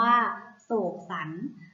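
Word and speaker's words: โศกศัลย์: ศาลา กะอี รอ เรือ 2 4 สะอาด ค่ะ ทำ ต่อ ไป ค่ะ คำ ว่า โศก ศัลย์ โศก ศัลย์ อ่าน ว่า โสด สังข์ ส่ง สาร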